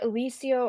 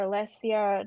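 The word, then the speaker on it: Alyssa: her name was Alisia it's either Aliso or Alesia depending on who pronounces it one of those you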